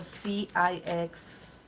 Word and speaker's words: CIX: question that it's for cix is this how this group name is pronounced letter by letter the initials c i x or is it six and I'm saying it wrong ah little by letter